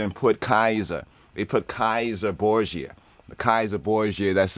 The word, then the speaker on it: Caesar: put kaiser they put kaiser borgia the kaiser bourgeoisie that's the caesar boziers y'all might say caesar are studying the linguistics the proper pronunciation is kaiser kazar kaizar khazar kaiser